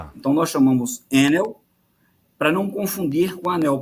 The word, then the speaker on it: Enel: que fala enneo e tem ouvinte que fala enel como é que é o jeito certo de falar o nome da empresa e nós chamamos aqui no Brasil enel para não confundir com a Agência Nacional de Energia Elétrica chamada anel né então nós chamamos enel